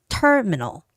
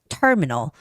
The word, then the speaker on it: terminal: in Korean so terminal make sure that you keep the first syllable stress it's terminal terminal okay and access don't say